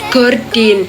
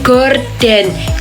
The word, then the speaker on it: gorden: Nah, biasanya orang-orang atau toko atau kios itu memakai huruf Y. Jadi bunyinya gordin. Kenapa seperti itu? Itu karena biasanya ditulis sesuai bunyi sehingga terjadi ejaan tidak baku. Nah, yang baku itu gorden G O R D E N.